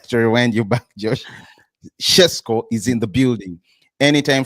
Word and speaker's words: Šeško: it hard to cuz I'm used to Cisco, but I understand it's pronounced Shesco.